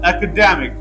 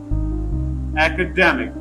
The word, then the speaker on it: academic: Another example is academic. Academic. The word academic, the first syllable has secondary stress, and the third syllable de has main stress, and it has the stress shift sign.